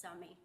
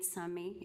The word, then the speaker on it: Sumi: Did I butcher the last name? I can't read it. It's okay, it's Sumi. Sumi? Can I pull this down? Absolutely. My name is Sumi, and I live at